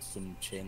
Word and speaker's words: Sun Quan: For the record, I was reading this thing about how Sun Quan, one of the dudes, oh, and I believe that's pronounced like Sun Chan or something like that, but whatever.